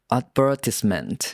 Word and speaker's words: advertisement: Same word, same spelling, just the stress is on a different part of the word.